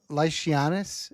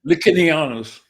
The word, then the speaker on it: Licinianus: Licinianus. Oh boy, I've been saying it wrong in my head this whole time. Say it again for me. Licinianus. Licinianus. Licinianus. Latin C was pronounced K.